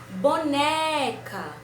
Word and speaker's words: boneca: Boneca. Também foi a sílaba do meio.